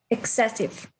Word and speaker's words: excessive: Excessive, the stress. Excessive.